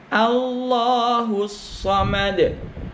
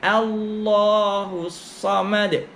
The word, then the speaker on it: Allahus Samad: A masuk lam. Al ditaghliskan, ditebalkan. Allah a. Allahus Samad. Jangan keliru membacanya o. Allahus Samad. Apalagi ditukar menjadi wau. Allahus Samad. Bukan. A. Yang betul a.